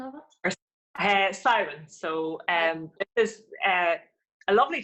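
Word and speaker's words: Samhain: Can you say the right pronunciation of it? Siren.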